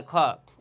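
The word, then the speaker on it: خاء: এই গলার শেষ ভাগ শেষ ভাগ হতে এই খরফটি উচ্চারণ হয় বা তার মাকাম তথা মাখরাজ। দেখেন আমি কিভাবে উচ্চারণ করি? খ তাহলে খ এর মাখরাজ হচ্ছে গলার শেষ ভাগ তথা আদনায় হল।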